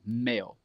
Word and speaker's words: male: It kind of sounds like it's like a ill sound when you're saying it, which is incorrect. You want to say male. Male. Male.